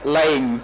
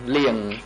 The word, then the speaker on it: Leng: the ហើយខ្ញុំចាំការបកប្រែថាឈ្មោះលៀង Battalion 2 his name was Leng but when I listened to the Khmer interpretation the name became Liang Mr.